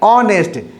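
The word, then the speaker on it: honest: एच क्या है? Silent. लिखा जाता है हॉनेस्ट, लेकिन जब उच्चारण करते हैं, प्रोनाउंस करते हैं, साउंड करते हैं, बोलते हैं, तो इसको क्या करते हैं? ऑनेस्ट। एच को नहीं पढ़ते हैं, ओ से शुरू करते हैं, ऑनेस्ट।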